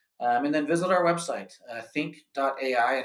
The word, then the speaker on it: Thynk: And then visit our website, think.ai, and it's THYNK.ai, so spelled just a little bit differently there.